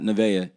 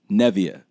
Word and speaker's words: Nevaeh: i send the video nah it's not nevaeh it's nevia beth my fault appreciate